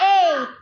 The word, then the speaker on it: eight: G-H. G and H are silent. G and H are Silent. eight. Eight. Eight.